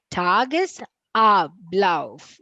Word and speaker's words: Tagesablauf: It's not te, it's ta. The a has to be abcd. Tagesablauf.